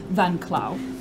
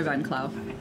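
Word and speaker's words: Van Klauw: You would know her name is Adoa Van Clau.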